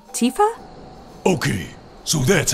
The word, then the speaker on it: Tifa: No Tiffa here? Yeah. Do you mean Tifa?